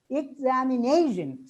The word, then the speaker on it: examination: So instead of pronouncing it, it's examination, stress on ne, manner on ma, and because on ko, and politician on t.